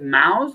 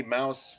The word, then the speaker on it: Maus: that right is it is it mouse or moms it's mouse unless unless you ask my dad he's a retired navy guy so he says moss okay because he's got a lot of self-respect for me mouse just work actually mouse is the actual pronunciation of m-a-u-s so yeah that's why